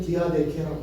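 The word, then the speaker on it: διαθήκη: 저걸 읽으면 디아데케라고 읽는 거예요.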